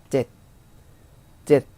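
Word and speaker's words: เจ็ด: 젯 하고 발음했죠.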